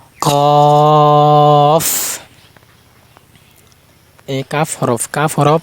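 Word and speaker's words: ك: কফ এই কাফ হরফ। কাফ হরফ। জিহ্বার মানে এই কফ হরফ যে উচ্চারণ করছি।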